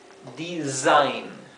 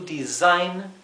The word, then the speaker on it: design: design acá otra vez tenemos una s simple entre dos vocales y se pronuncia Z como una s vibrante Z design to design no significa Designar to